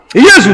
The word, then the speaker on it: Jésus: Jésus, non? Par rapport à la prononciation des lettres, là, on prononce Jésus.